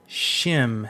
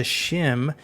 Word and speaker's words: SCHiM: Tavern with another review today I'm looking at shim as I'm pronouncing it shim is a new 3D platformer